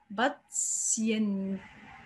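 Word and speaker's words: Patienten: خلي بالك كلمه مش هقول باتسينت، لا التي ايه لما بيجوا ورا بعض في بعض الكلمات في الالماني بتتنطق سين. باتسينتن.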